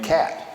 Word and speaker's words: Kaat: to spring training and everybody pronounces my name cat so Chuck stabs a